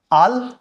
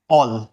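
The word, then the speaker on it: all: ही spelling के अंदर जैसे कि मैं बोलता हूं आल आल गलत हो जाएगा अगर मैं बोलता हूं आल आल बोलता हूं तो यह गलत है क्या होगा ऑल ऑल बोला जाएगा ठीक है ऐसे ही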